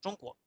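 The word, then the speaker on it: 中国: En chino, el nombre de China es Zhongguo.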